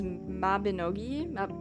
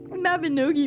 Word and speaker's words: Mabinogi: The most I've ever played was Mabinogi, I think is how it's pronounced.